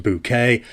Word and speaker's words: Bucket: Keeping up appearances was filmed here between 1990 and 1995, gifting the world higher synth bucket, pronounced bouquet, as anyone over 45 will gently but firmly remind you.